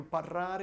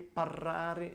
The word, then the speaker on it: parlare: So I like your R's as a little, don't over-exaggerate them, because when you say parlare, it's good to roll your R, but don't do it too much.